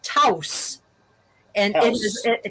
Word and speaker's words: Taos: Pueblo in the southwest that is that is pronounced Tous and it is T and is and it